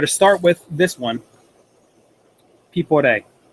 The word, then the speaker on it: Piporé: Pipe P. This little accent means we it gives it kind of like a shark pronunciation. people at a a gives it the stress on the E.